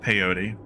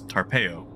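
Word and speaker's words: Tarpeyo: medicine called tarpeo turns out it is not pronounced peyote it is tarpeo i got those two mixed up in the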